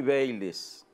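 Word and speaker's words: Bayly: en cualquier momento puede pasar cualquier cosa jaimy bailes Jaime Jaime bees bais o la bebida es baile pero se escribe sece baile baile Bueno El caso es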